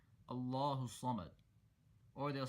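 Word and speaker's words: الصمد: So say it slowly and make sure that you're pronouncing the Sad clearly and holding and stretching and emphasizing that shidda. So that shidda should be respected, should be properly pronounced.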